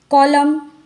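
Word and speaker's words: column: न साइलेंट होता है कॉलम कॉलम कहते हम इसका यन यहां पर प्रोनंसिएशन नहीं होता है तो यहां पर भी यन हो गया साइलेंट अब हम देखते कि ओ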